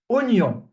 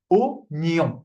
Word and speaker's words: oignon: Alors, oignon. Okay, so this word is the only exception in French where the OI is not pronounced wa. Okay, it's just O.